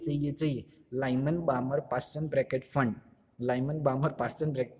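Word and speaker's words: Pfund: उसके उसके बाद है ब्रैकेट, उसके बाद जो है वो फंड, इस तरीके पी साइलेंट है उसके अंदर, मैं स्पेलिंग में बहुत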